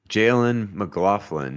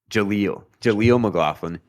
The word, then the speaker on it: Jaleel McLaughlin: And Jalen McLaughlin, did I say his name right? It's Jaleel. Yeah, Jalen McLaughlin. Jaleel McLaughlin, undrafted running back going into year 2.